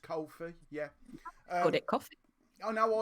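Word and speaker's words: Ko-fi: I'm made aware today he's pronounced Kofi that ko - effort he's pronounced Kofi yeah it costed no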